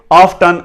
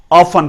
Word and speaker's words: often: ये ब्रिटिश है और ये अमेरिकन है। अमेरिकन में आप इसे ऑफ्टन, बल्कि अमेरिकन इसे ऑफ्टन ही पढ़ते हैं, लेकिन ब्रिटिश में इसे ऑफन पढ़ा जाता है। तो मोस्टली यहां पे एशिया में ब्रिटिश ही इस्तेमाल होता है, तो हम इसे ऑफन ही पढ़ेंगे। लेकिन अगर आप इसे ऑफ्टन पढ़ देते हैं तो कोई हर्ज नहीं है, आप इसे पढ़ सकते हैं।